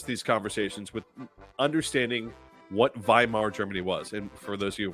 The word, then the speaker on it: Weimar: I always like to preface these conversations with understanding what Weimar Germany was. And for those of you wondering why I'm saying with a V, because W is pronounced as a V in German.